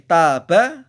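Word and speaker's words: تاب: Hampir mirip kosakatanya tapi hurufnya beda, maknanya pun beda, tetapi pengucapannya, vokalisasinya atau bunyinya hampir sama.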